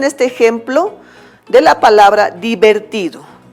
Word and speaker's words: divertido: Por ejemplo, dividido en sílabas tenemos divertido. Di es átona, no lleva acento. Ver es átona, tampoco está el acento ahí. Ti, ahí se ubica el acento, por eso es sílaba tónica.